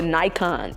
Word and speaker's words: Nikons: Y'all, my fan club is called the Nikons. I came up with this because I just felt like iconic, Nikos, together, Nikons. Like, so it's called Nikon, like it's spelled like the camera Nikon, like Nikon. That's how you spell the camera, right?